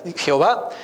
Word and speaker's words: Jehová: ya y la palabra Jehová viene cuando se mezclan estas cuatro consonantes con las vocales de la palabra adonay los escribas cuando estaban